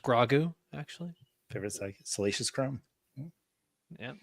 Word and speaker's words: Grogu: It's pronounced grogu actually.